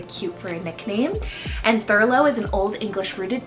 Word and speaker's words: Thurlow: list another one here that's super cool is Thurlow so t-h-u-r-l-o-w furlough this is is derived kind of from the